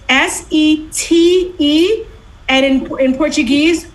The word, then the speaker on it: sete: So it's S-E-T-E. And in Portuguese, if you have a T in front of an E or an I, the T is usually pronounced like a ch, like CH. Sete.